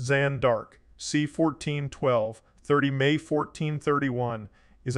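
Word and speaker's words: Jeanne d'Arc: foreign French Jean dark pronounced zanark c1412 30 May 1431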